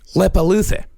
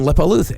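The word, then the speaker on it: Leppalúði: These I know I'm actually pronouncing right. Okay. There is Grilla and Lepaluthe. Huh. Yeah. Grilla and Lepaluthe.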